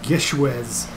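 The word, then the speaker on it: GISHWHES: We just joined I believe it's pronounced Gishwez International Scavenger Hunt, and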